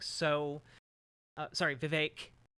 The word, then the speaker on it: Vivek: like so uh sorry Vivek rhymes with cake see ya on the